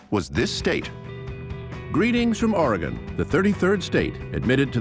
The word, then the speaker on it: Oregon: Oregon, by the way, I have to say, is not pronounced Oregon. It didn't go anywhere. There is not an E on the end of it. It's Oregon.